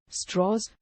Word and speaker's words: Strauss: as his religion and insisted his name be pronounced in a Virginia fashion as straws rather than per the usual Germanic form